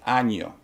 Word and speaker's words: año: Year, for instance, in Spanish is año. If you don't pronounce the ñ, it's a totally different word.